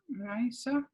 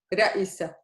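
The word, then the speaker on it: رئيسة: Raisa. Yeah, exactly. Ra'isa. So ra'i. Sometimes you would see here a kasra. It doesn't do much, okay? It's you can also, without the kasra, you read it the same.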